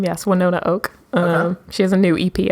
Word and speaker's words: Winona Oak: um when one ona oak is how you pronounce her name yes Winona oak she has a new EP out that came